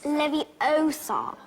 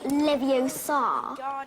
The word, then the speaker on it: Leviosa: someone's eye out besides you're saying it wrong it's Lev Oar not Levar you do it then